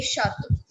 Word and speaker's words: Château: CH in French is sh. Sh se shalgam. SHE. It is pronounced as sh, not ch.